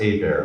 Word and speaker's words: Hebert: last name is pronounced a bear like a bear is attacking me a bear oh no h is silent E's like an A T is silent blame the French I don't know if